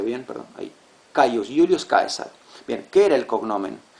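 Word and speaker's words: Caesar: Bueno, sí, me van a decir César, pero en latín esa es la versión en español. Kaisar. Sí, Caius. Julius Kaisar. Uy, ahí, ahí se ve bien, perdón. Ahí Caius. Julius Kaesar.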